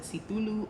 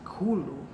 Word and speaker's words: Cthulhu: there said, actually, because what most people either pronounce it Cthulhu or Cthulhu, or maybe even Cthulhu, however, but she said it's really pronounced Cthulhu.